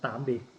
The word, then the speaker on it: Tạm biệt: để Hữu Thiện nói vị khách nói lời tạm biệt đến cả nhà mình nha. Can you say goodbye by Vietnamese? Yeah, how do you say it? Tạm biệt.